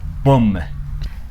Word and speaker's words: bomb: የሚሆነው ማለት ነው ይሄኛውን ብዙ ጊዜ ቦምብ ብለን ነው የምናነበው that's not the right pronunciation right you have to pronounce it as bomb እቺኛውስ yes climb past